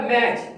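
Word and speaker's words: match: इसी तरह मैच, अब मैच की स्पेलिंग वो लिखेगा MACH, मैच, टी तो साइलेंट है, टी को बड़ा करें।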